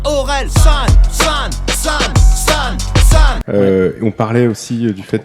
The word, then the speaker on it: Orelsan: Ça se prononce Orelsan.